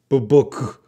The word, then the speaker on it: BBC: We say the letters. We don't say it like an acronym. BBC or BBC. We say it as initialisms.